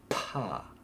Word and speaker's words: 파: 옥수수, 파. That's nice, breathy. 파. Okay, some drinks now. 음료수. Try and pronounce these.